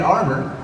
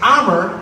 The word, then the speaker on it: Amer: I break it up into two syllables. First syllable, ah.